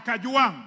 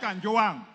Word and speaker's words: Kajwang: all first of all pronounce my name properly I'm not a CH I am Kang not Kang number two Mr Speaker